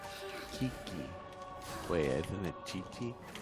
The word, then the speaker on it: Qiqi: it needs to be Kiki. Kiki. Wait, isn't it Chi-Chi? It's Qiqi, so I've been saying it Kiki. Yeah, it's Chi-Chi.